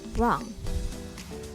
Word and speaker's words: wrong: Huruf W ini tidak dibaca ketika diikuti kata R. Seperti right, right, wrong.